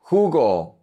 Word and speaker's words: jugo: La J en español sounds like the H in English. So we say mejor, mejor, better, mejor. Jugo, jugo, juice, jugo.